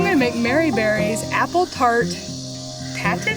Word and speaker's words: Tarte Tatin: So I'm gonna make Mary Berry's apple tart tatin? Is that how you pronounce that? Mary Berry's apple tart tatin. Tarte Tatin.